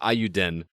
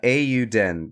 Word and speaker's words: Eiyuden: was pronouncing that because i was pronouncing it iuden they pronounce it incorrectly on the trailer then man i swear i listened to the trailer they said euden but say it again they're silly uh a you den because yeah because if you if you uh